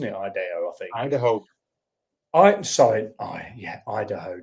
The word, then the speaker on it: Idaho: Idaho, not Ideo. Why am I saying Ideo? Bloody hell. Yeah, Idaho.